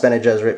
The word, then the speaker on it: Bene Gesserit: In fact, the Bene Gesserit, I think it's pronounced Bene Gesserit because it's based off of the Jesuits, so it's fairly certain it's Jesuit. But sometimes I pronounce it Bene Gesserit because I'm dumb.